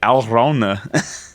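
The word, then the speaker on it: Alraune: oh my God okay it's alrona yeah it's German yeah I don't know why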